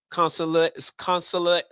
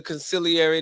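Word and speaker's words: consigliere: See, going back to the Godfather, see, you have a wartime consulary. I'm pronouncing it right. Conciliary is the word. Conciliary. Thank you, sir.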